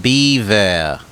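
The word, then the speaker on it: bevor: Pronounced beaver. Okay, like the animal.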